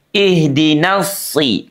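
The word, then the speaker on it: صراط: Seterusnya sahabat Al-Qur'an kesalahan di huruf shad ya itu tidak menebalnya bunyi si. Padahal huruf shad itu baik fathah, kasrah, domah itu sama-sama dibaca tebal walaupun ada tingkatannya ya. Si ah. Oke, si jangan si si apalagi kalau si permukaan lidahnya ini terbuka ya menjauh dari langit-langit sehingga tidak ada kesan lengket.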